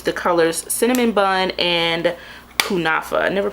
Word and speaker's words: Kunafa: powders I use the colors cinnamon bun and kunafa I never pronounced that right let me see oh I got it right kunafa so I like to use both of these